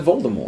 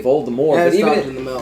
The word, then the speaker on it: Voldemort: the author says hey voldemort but they still allow the movies to save voldemort plus spell to the t at the end well it could be a silent letter cyanide's a dumb but